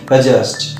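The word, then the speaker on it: adjust: Number one হচ্ছে অ্যাডজাস্ট, তোমরা বলো অ্যাডজাস্ট, আমরা অ্যাডজাস্ট করে রয়েছি, নট অ্যাডজাস্ট, অ্যাডজাস্ট, D silent, উচ্চারণ হচ্ছে অ্যাডজাস্ট।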